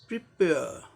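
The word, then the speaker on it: prepare: आर E silent, R ई तो उच्चारण होता ही नहीं है, आर ब्रिटिश इंग्लिश में आर साइलेंट होगा यहाँ। तो क्या हो जाएगा इसका उच्चारण, प्रिपेयर प्रिपेयर।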